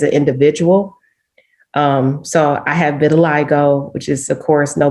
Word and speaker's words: vitiligo: so how do you how do you say it again have been a lego yeah it's vitiligo so of course i